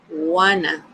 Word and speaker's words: wanna: But here, instead of saying, I want to, we're going to say, I wanna, okay? That is going to be the pronunciation, wanna.